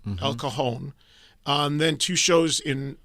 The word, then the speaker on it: El Cajon: El El Ca- El Cajon. El Cajon.